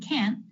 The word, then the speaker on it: can't: ways you can tell the difference between can and can't is the length of the word can will be a little longer and a little smoother than can't which will be a little bit more abrupt can't can't that's because of the stop T which makes that abrupt ending the t is an